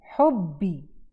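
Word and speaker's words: لِحُبِّي: तो यहाँ आप नोटिस करें कि हम दो बा प्रनाउंस कर रहे हैं। ये मेक श्योर आपने करना है कि दो बा यहाँ पढ़े जाएं।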